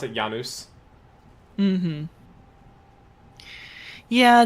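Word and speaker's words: Janus: So that's why I I pronounce it Yanuz. Mhm. Yeah. Janice is definitely the ang um Anglicai version of it.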